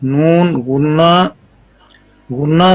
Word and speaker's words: نون غنہ: جی نون غنہ pronounced as noon gunna sound pronounced from the nose bone khashum for a duration of 1 alif.